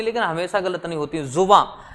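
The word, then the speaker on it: ज़ुबां: जुबां, इसका उच्चारण क्या रहता है, जुबां। जा पे नीचे नुक्ता लगेगा, बा पे अंकी बिंदी, जुबां।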